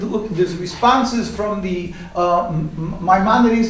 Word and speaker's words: Maimonides: But the rabbis, as anybody could look, there's responses from the Maimonides, how do you pronounce it in Spanish? A codifier of Jewish law, Maimonides.